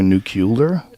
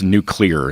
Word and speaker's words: nuclear: same thing oh okay it's like nuclear nucular no that it's that's nuclear it's that's spelled new clear um don't you remember